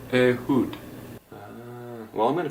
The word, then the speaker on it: Ehud: It is, in fact, pronounced A hud.